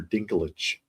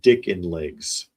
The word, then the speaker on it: Dinklage: And I saw one actually the other day talking about Peter Dinklage, the actor, and the AI could not say his name, and it was calling him Peter Dickin Legs.